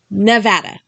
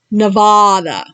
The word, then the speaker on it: Nevada: Nevada is pronounced Nevada, not Nevada.